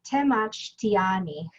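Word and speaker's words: temachtiani: scientist and an educator so you pronounce that te mach tiani i have four pets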